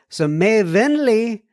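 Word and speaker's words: vennleg: May, and then Venleg, silent G. Oh, so Venleg. So May Venli Hilson.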